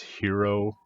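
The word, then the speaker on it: Hiro: yeah uh the uh the lead person's name is hero protagonist cool it's spelled h-i-r-o but he walks around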